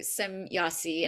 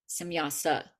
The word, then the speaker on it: Samyasa: So, according to Samyasi, and I hope I'm saying it right. Yasa. Mhm. Samyasa.